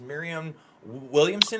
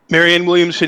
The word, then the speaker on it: Marianne Williamson: know the next night i am going to mispronounce her name but the author i think it was miriam williamson is that her name do you know what i'm talking about mary marianne williamson aka the crystal lady yes the crystal lady